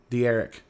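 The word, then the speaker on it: D'Eriq: De'Eric.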